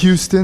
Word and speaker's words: Houston: Tu me dis Houston, si Texas, je me trompe un peu sur la prononciation. On dit Houston, mais c'est pas grave.